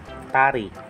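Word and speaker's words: 다리: Kaya ang bigkas po nito ay tari.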